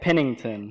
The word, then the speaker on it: Pennington: Pennington. Pennington. Oh, that's not hard. It's pretty simple. Yeah, it's pretty much how you spell it.